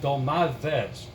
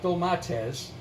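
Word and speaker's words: ντολμάδες: stuffed grape leaves or as the Greek people pronounce it dull my Fez not though my test dull my Fez th easy I mean you say that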